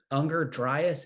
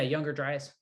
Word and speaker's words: Younger Dryas: There's a popular guy who talks about Unger Dryas. Is that how it's said? Unger Dryas event, some sort of cataclysmic event. Younger. Yeah, Younger Dryas.